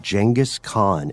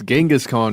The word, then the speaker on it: Genghis Khan: likely doomed quest to find the grave of jangus Khan and we also discovered that is the correct pronunciation yes genas Khan is now jangus Khan like like janga like